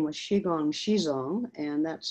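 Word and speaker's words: Zhizong: the early days so her name was shigong shizong and that's spelled z h i z o n g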